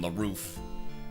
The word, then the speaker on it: LaRoof: So this is the same pronunciation, LaRoof, but I just think it makes it a little bit more mysterious.